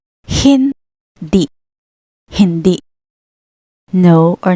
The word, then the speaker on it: hindi: Next, we have the word hindi. The H is at the beginning. Hindi.